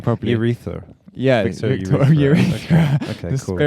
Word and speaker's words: Erice: Urethra.